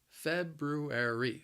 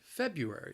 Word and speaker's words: February: again and again anyway the word has four syllables the stress is on that first syllable but i think this word is challenging because of the those two r's in there feb ru air e february february say with me